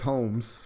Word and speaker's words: Holmes: Yeah, just lose the L sound. But yeah, that's and that's how you say it's Holmes for sure.